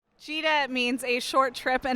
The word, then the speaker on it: Gita: Cheeta means a short trip in Italian and it's spelt gita and jitta takes lots of short trips the inspiration for